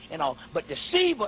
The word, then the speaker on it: Shiva: Yeah, it's S-I-V-A, but it's pronounced Shiva.